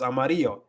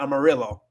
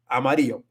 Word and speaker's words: amarillo: So it's Amarillo. It's not Amarillo. So it's like things like that'll make you sound really gringo just right off the bat. And it's very simple rules. It's very, very simple pronunciation rules. It's just literally just the alphabet. Amarillo. If you say this like that, you're going to sound a lot better instead of saying Amarillo.